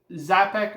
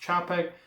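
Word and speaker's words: Czapek: Next is this Zapek, or it's actually pronounced Chapek, Quai de Berg, 38.5 millimeters.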